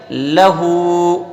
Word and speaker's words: لہو: اصل میں اس کے اندر ایک واو ہوتا ہے. کیا ہوتا ہے؟ واو چھپا ہوا ہوتا ہے. تو کیسے پڑھیں گے؟ لہو.